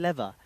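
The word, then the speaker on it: лев: We actually use something called the Bulgarian leva, or as the locals say, just lev.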